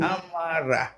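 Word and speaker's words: أمر: Ha, Non, c'est pas ha, c'est a. A. Voilà. Il faut bien prononcer le hamza, Arfa, ok? A. A. Mhm. Amala. Mm. Amara.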